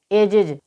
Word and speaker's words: ages: इसी प्रकार से AGES। तो यहाँ पर वर्ड के लास्ट में GE आया है, उसके बाद S आया है, इस कारण यहाँ पर S का उच्चारण ज होगा। तो AGES को हम क्या पढ़ेंगे? एजिज।